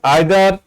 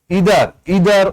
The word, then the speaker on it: either: Notice the pronunciation is either or, neither nor. This is British, and if you say neither, either or, that is also correct, but this is American pronunciation.